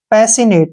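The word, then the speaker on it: passionate: पी ए का उच्चारण हम प और ए के रूप में करेंगे, डबल एस का उच्चारण हम स करते हैं, और आई का उच्चारण ई करते हैं, ठीक है ना। और यहाँ पर ओ का जो उच्चारण नहीं करेंगे, एन ए का उच्चारण न करते हैं, और ए से ए की मात्रा हो गया, टी से ट हो गया, ई का उच्चारण हम नहीं करते हैं।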